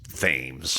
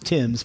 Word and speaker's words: Thames: And I thought it was Thames forever. It's pronounced Tim's, but in your defense, that word is actually not English.